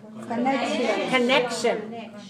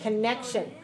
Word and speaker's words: connection: is always a noun how many syllables connect three syllables and where's the stress to write second stress second cill the stress okay connection is a